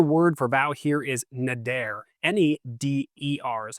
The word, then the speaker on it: neder: The Hebrew word for vow here is neder, N-E-D-E-R is how it's spelled, which means a solemn promise made to God, often involving a pledge to do something or abstain from something.